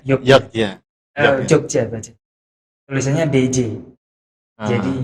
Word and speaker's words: Yogyakarta: J itu adalah Y, ya kan? Ayo hati-hati. Ya kan? J itu Y ya. Yogyakarta kan Yogyakarta. Ya kan? Tulisannya Yogyakarta. Ya benar. Benar. Iya. Jogja. Jadi bacanya Yogya.